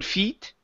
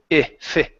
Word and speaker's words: fit: one here is fit give me a short ey here instead of saying could Feit could fit fit there you go so